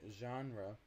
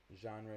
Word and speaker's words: genre: drama so the word genre that that that letter is the so you pronounce it well the just called yeah yep so it's it's a it's actually from French genre is a French word so in order to